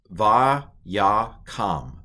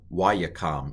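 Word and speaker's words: ויקם: Va, Ya, Kam, Vayakam, or Wayakam, if you're doing that as a Wow.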